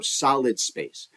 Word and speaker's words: Solidspac3: So Solid Space, it's spelled SOLIDSPAC 3, the number 3. It's like a backwards E. Right? Instead of ending with an E, like the word is spoken.